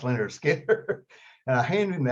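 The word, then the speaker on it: Lynyrd Skynyrd: I said, "Leonard Skinner, pronounced Leonard Skinner."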